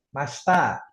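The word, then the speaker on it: ました: Masta itu enggak dibaca ya. Kalau dieja emang masita tapi dibacanya masta. I-nya enggak dibaca.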